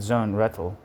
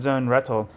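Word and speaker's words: Sohn-Rethel: understanding of economy Alfred Zone Rettle. I always I always feel like I'm pronouncing that guy's name. Alfred Zone Rettle. I used to say Rachel, but that's not right.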